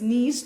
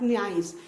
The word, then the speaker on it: niece: the word correctly, especially NIEC is niece, not nice. I've seen students वो इसको अधिकतर nice बोलते हैं, though it is niece, है ना? NIECE, it is not nice, it is niece.